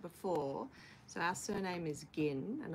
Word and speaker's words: Ginn: so our surname is gin and a lot of people mispronounce it as Jin so I was sort